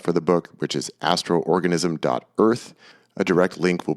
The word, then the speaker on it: Astrorganism: that o to indicate that you need to pronounce it twice but it's Astro organism.